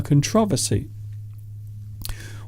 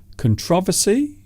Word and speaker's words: controversy: say saying controversy so the emphasis or stress is on the second syllable here's another one a